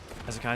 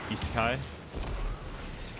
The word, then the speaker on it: Isekai: The I is pronounced more like an E. Isekai, something like that.